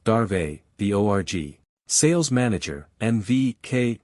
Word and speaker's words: Dave: worked most closely with Hari Dave pronounced darve the org sales manager